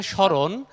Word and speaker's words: স্মরণ: আবার যখন বলি আমরা স্মরণ তখন সাধারণভাবে ম এর উচ্চারণ হচ্ছে না কিন্তু যদি আমরা বলি